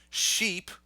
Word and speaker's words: sheep: ship yes I can so sheep right that's a long e sheep that's the animal